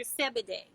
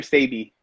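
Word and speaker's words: Sebi: Sebede. And Sabi. how do you pronounce it? Is Dr. Sabi.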